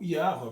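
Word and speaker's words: Yahweh: lembra-te da tua serva eu digo yawa porque esse daqui é quase a pronúncia correta do nome de deus tá segundo é contigo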